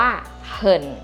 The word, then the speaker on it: 很: ว่า มาก ใน ภาษา จีน ออก เสียง ว่า เหิ่น เห่น แปล ว่า มาก นั่น เอง ค่ะ ที